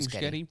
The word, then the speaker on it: Muschietti: The Flash director, Andy Muschietti, is that how you say his name? Muschietti.